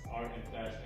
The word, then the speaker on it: ArtxFashion: the owner of drips how do you say the name fully like drips artifacts or art and fashion art and it's drips drips are extra so it's art and fashion combined we know these guys